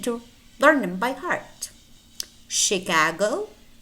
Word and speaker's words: Chicago: more words that are spelled to eat and pronounce touch so you need to learn them by heart Chicago Chicago Champaign parachute parachute Michigan Michigan brochure brochure chandelier